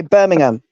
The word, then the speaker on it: Birmingham: say green witch and Burmingham like ham ain't birming it's not burning it's we say Birmingham is that on your